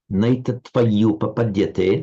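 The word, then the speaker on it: नैतत्त्वय्युपपद्यते: Naitatvayu papadyate. Now, pronounce that double y quite strongly.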